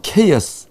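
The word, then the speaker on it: chaos: 팬덤들이 아주 영어로 말하면 케이어스 이 카오스 세탁기 있잖아요. 네. 카오스 세탁기가 영어로 말하면 케이어스입니다. 케이어스. 네. 케이어스가 네. 혼돈입니다. 혼돈. 막 카오스. 돌지 않습니까? 네. 그래서 그 카오스 세탁기가 원래 발음은 케이어스입니다. 케이어스.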